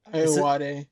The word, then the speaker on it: Ayoade: Ayoade.